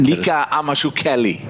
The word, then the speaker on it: Nika Amashukeli: I'm impressed by your pronunciation of the referee in that game yesterday. Do it again. Nika Amashukeli.